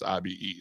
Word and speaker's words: Ibe: It's IBE. So we'll say Ibe.